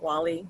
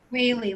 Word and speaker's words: Whaley: It is how you pronounce it, right? Whaley, not Whaley, like whale on what the is ocean.